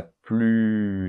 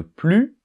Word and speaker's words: plus: exemple Jean ne regarde plus la télé alors on ne prononce pas le S de plus hein d'accord alors qu'est-ce